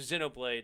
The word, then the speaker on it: Xenoblade: okay so xenoblade is how you say it so i have